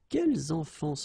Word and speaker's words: quels enfants: When we're talking about the plural form, then it could be quels enfants sportifs. Okay, so you noticed here that I've been making the liaison.